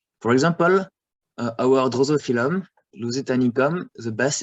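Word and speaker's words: Drosophyllum lusitanicum: For example, our Drosophilum, Lusitanicum, the best it's to pronounce is Drosophilum lusitanicum.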